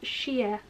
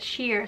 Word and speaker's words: shea: let's take 14 first we got a shampoo with shea last time i said sheer somebody told me i was wrong so might